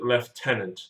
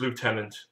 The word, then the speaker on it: Lieutenant: We are British, we pronounce it Lieutenant, the proper way. No, it's just Lieutenant.